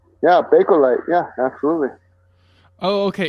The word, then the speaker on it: Bakelite: a boy am I saying it right yeah Bakelite yeah absolutely oh okay it's b-a-k-e I think